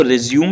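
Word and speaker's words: résumé: रिज्यूमे होता क्या है इसको रिज्यूम लिखते हैं बट प्रोनाउंस रिज्यूमे करते हैं रिज्यूमे होता क्या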